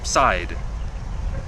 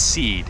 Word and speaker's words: Seid: Jeff seid side I think it's seed because it sounds like CD and rhymes with the